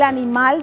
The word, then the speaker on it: animal: ¿Dónde se carga la voz? En la sílaba mal.